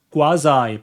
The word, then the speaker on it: quasi: 바로 quasi, 발음이 quasi라고 하는데요.